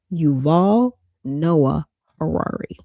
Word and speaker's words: Yuval Noah Harari: I always do his name wrong. Yuval Noah Harari.